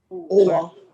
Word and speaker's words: Owa: spell that correctly? Is it Owa or Allah? Owa.